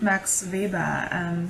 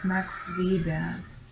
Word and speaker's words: Max Weber: Classical definitions of social class have mainly been provided by Karl Marx and Max Weber. So I'm using the German pronunciation since both are German. So Karl Marx again and Max Weber.